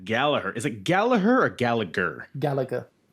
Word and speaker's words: Gallagher: Is it Gallagher or Gallagher? Gallagher, because it was pronounced Gallagher in WWE.